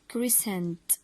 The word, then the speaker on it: croissant: it and it's called croissant croissant $0.03 did you see in all the words the letter C followed the letter S and we didn't pronunciate it or pronounce it and this is the case